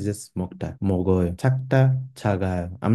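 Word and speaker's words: 작다: So for example, here we have chakta. It's spelled with a j, yet I'm pronouncing it with a ch sound.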